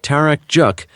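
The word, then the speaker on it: 타락죽: Its Korean pronunciation tarak juk is said to originate from the Turk word tarak meaning dairy product.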